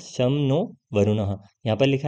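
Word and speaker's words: शं नो वरुणः: Indian navy contains the motto some नो वरुणः pronounce शम नो वरुणः यहां पर लिखा है ना शम नो वरुणः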